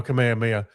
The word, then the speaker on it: Kamehameha: Oh, Kamehameha. That's the American pronunciation.